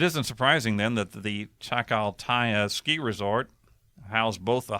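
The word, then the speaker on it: Chacaltaya: Chaka chakal okay how do you say that chakal TAA c h a c a l t ya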